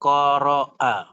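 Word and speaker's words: قرأ: Qaf, ra, a. Qaf , ra, lalu a, hamzah, seperti itu. Qaf, ra, lalu hamzah. Ini adalah kata kerja, ini adalah kata kerja bentuk lampau, ini adalah kata kerja bentuk lampau. Membacanya sebagai qara'a.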